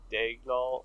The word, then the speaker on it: Daigneault: Second, Mark Daigneault, I think is how you say his last name. That's how you say it, yeah.